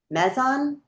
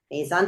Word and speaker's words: Maison: Joe serves on the staff at, and I'm going to say it wrong, but Mezzan. Did I say it wrong? Mason. Maison.